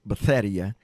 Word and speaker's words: Bethesda: Jesus went to the man and saw the man at the pool at Bethesda. He had been there. Some people pronounce it Betheia, but he had been there for 38 years.